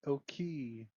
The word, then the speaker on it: Oki: Okay, it's pronounced oki the secret of island.